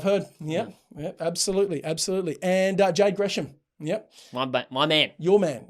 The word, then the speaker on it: Gresham: B, pronounce his last name properly. And then re-enter the chat. I like the enthusiasm. Gresham.